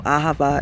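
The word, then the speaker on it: אהבה: You know, ahava is how you say it in Hebrew.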